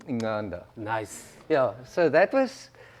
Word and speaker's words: Incanda: then but unfortunately yes people struggle to pronounce it correctly so it ended up being in canada yeah um but it's actually in inganda nice yeah so that